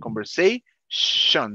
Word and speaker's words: conversation: Okay, conversation, not chong. Con ese, shon, conversation. Yeah.